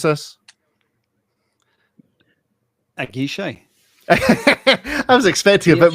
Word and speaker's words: Aguiche: Matt, tell us how we pronounce this. Aguiche.